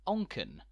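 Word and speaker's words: Onchan: second largest settlement on the Isle of Man pronounced onken which trips up many by resembling the Japanese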